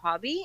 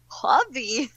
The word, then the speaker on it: Huobi: It's something like Huobi or something like you gotta like do the exclamation going up, which I so failed at that, and I was live on TV.